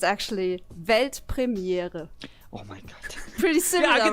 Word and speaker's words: Weltpremiere: It's actually Weltpremiere. Oh mein Gott. Pretty similar, right? I think I could do that. yeah, do it. Es war Weltpremiere.